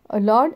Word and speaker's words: lord: लॉर्ड एंड वर्ड, देखिए spellings कितने different same है. LORD लॉर्ड, WORD वर्ड, but pronunciation is quite different, बहुत ही different है.